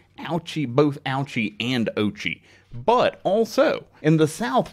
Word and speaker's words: Ouchi: video for this episode noting that the algie's name should actually be pronounced ochi oh gee okay we